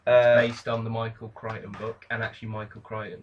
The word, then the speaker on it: Crichton: see another suave uh based on the michael crichton book and actually michael crying is it michael